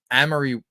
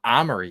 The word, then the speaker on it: Amory: It's pronounced Amory. Amory Wars? That's not Armory, is it? Like Amory? There's no R at the start.